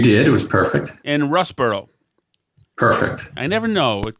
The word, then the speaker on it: Russborough: heist um okay first of all did i pronounce doug dale correctly anthony you did it was perfect and russ burrow perfect i never know it could be worcestershire